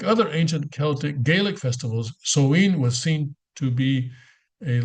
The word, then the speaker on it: Samhain: The origins of Halloween can be traced back all the way to the ancient Celtic festival known as Samhain, which that's how it's pronounced, Samhain in Gaelic language.